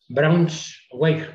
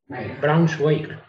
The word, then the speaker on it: Braunschweig: Decir que Brunswick en inglés corresponde al estado federal alemán Braunschweig. ¿Lo he pronunciado bien? Braunschweig.